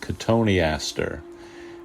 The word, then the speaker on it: Cotoneaster: She always made sure I pronounced it correctly, Cotoneaster.